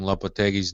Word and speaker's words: Lopetegui: All of you guys that have been mispronouncing Lopetegui's name, you will get an email from him, so watch out.